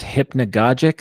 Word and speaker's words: hypnagogic: I don't think the term has been used yet, but is it pronounced hypnagogic state? Yeah, that's right.